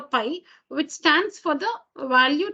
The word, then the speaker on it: pi: need to know about this Greek letter, which is pronounced pi.